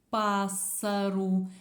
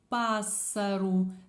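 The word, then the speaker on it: pássaro: буква С пишеться подвійно слово пасару це так якби два S разом пассеру таке чіткіше S але ще раз глянемо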